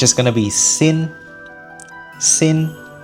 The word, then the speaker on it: Xin: Xin.